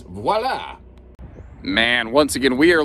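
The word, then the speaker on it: voilà: Or I guess the proper way to say it is voila.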